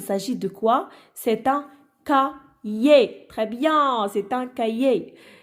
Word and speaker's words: cahier: Alors le H ici, donc il ne se prononce pas, il est muet.